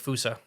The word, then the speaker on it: fossa: they pronounce it like fousa okay the double o sound with an a at the end okay um they're extremely